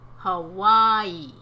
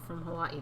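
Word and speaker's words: Hawaiʻi: Hawaii no I haven't Hawaii although I think that some people in Hawaii say Hawaii for what yes some people spell it with the apostrophe between the last day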